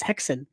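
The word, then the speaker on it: Häxan: is the silent film The Swedish silent film called hackson or I believe the Danish uh pronunciation is hexen and this is a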